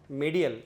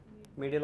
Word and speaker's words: medial: medial middle नहीं बोलते medial बोलते. स्पेलिंग लिखो क्या? Letter like this. medial middle or little finger side of forearm.